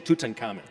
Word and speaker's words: Tutankhamun: We say Tutankhamun.